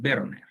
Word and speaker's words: Werner: Es que la pronunciación correcta es Werner. Werner, ajá. Pero muchas personas me dicen Werner.